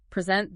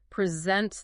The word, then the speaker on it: present: The classic example, present the noun, a gift versus present the verb to give something. Totally different words just based on stress.